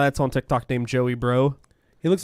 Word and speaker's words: Breaux: That's how Joey Bro is spelled.